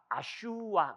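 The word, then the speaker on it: अश्व: 요 S 위에 빗금친 이 발음 쓰거든. 요게 라틴어에 가면 뭐가 된다? 에쿠스가 돼요. 요 V가 뭘로 바뀐다? U로 바뀌고 요 슈가 뭘로 바뀐다? K 발음으로 바뀌어.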